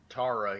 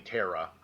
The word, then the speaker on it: Tara: people that pronounce it Tara here in the United States there are there are people that pronounce a Tara however it's typically Tera over here for some